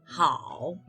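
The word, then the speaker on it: 好: The first character is pronounced as ni, and the second character pronounced as hao.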